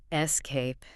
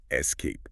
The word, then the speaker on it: escape: Escape. Yes. Try saying that out loud wherever you are right now. Escape. Escape. It feels very natural when you put the weight on the back half of the word.